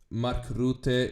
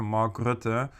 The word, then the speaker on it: Mark Rutte: Yeah, and by the way, Mark Rutte is the. Have I pronounced it decently?